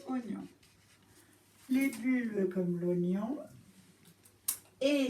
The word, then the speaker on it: oignon: donc virgule, comme l'oignon, ça s'écrit oie, oignon, mais se prononce oignon.